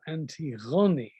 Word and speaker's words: Antigone: quite heroic uh than antigone or anti-ghani as she's pronounced in modern greek and antigone's name could